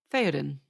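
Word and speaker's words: Théoden: But the king, whose name you can give me one more time because I'm not confident pronouncing it. Theoden. Theoden.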